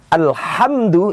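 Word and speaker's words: الحمد: Ha beda dengan ha. Kalau huruf ha itu adanya di dada, ha. Alhamdu itu adanya di ujung kerongkongan. Alhamdu. Alhamdu beda dengan alhamdu. Pengucapannya beda, keluar hurufnya juga beda, maka secara otomatis makna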